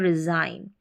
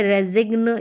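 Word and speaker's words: resign: साइन डिजाइन और रिजाइन तो ऐसे रेजिग या डेजिग्न या सिग्न इस तरीके से आप इनको प्रोनाउंस नहीं करेंगे इनका उच्चारण नहीं करेंगे तो इनकी ही आप प्रैक्टिस कर सकते हैं यहां पर जी इन स्पेलिंग से कॉमन स्पेलिंग है सामान्य स्पेलिंग है इनका अधिकतर प्रयोग होता है इस्तेमाल होता है उच्चारण देखें साइन डिजाइन और रिजाइन यहां पर जी के बाद में एन है और जी जो है साइलेंट रहता है ऐसे स्पेलिंग्स में तो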